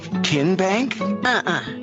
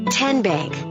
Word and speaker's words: TN Bank: How do you say the name? TN Bank? No. Tin Bank? So what is it? 10 Bank. 10, as in Tennessee.